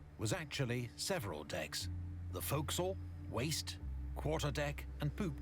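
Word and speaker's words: fo'c'sle: actually several decks the foxel waste quarter deck and poop deck the folk soul is a shortened form of forecastle the term dating back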